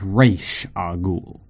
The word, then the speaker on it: Ra's al Ghul: Americans, it's Ra's al Ghul, not Ra's al Ghul.